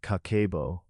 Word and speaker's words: Kakeibo: The word Kakeibo, pronounced Kakeibo, translates roughly to household financial ledger.